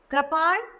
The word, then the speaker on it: कृपाण: कृपाण क के साथ री की मात्रा, तो बन गया क्र, और ण, कृपाण, कृपाण।